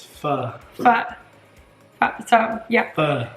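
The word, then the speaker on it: phở: If you're pho, we always say it wrong. We have been told the right way. It's pho.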